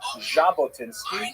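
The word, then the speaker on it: Jabotinsky: In order to make the Jack sound, you actually have to add a D to the Russian alphabet. So his name is actually Jabotinski. If you imagine that's the way the Frenches spell it with a J as well, but it's often transliterated into English because we don't have the sound so popular as simple J.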